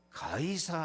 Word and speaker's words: 가이사: 네가 가이사 앞에 서야 하겠고, 학교에서 배운 대로 하면 시저, 로마 황제 시저 앞에 서야 되겠고, 이 시저가 라틴어 발음, 이 가이사가 돼버리니까, 그래서 지금 우리 성경에는 가이사라고 나와 있는데요.